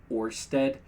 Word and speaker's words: Ørsted: Last year, the energy companies, how do you pronounce that? Oh, with the slash through it. Is it Ørsted and Atlantic Shores began conducting seafloor surveys of